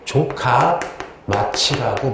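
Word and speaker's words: 城下町: 성하촌인데 요거를 발음을 좀 조심해야 돼요. 일본어로 조카마치라고 불러요.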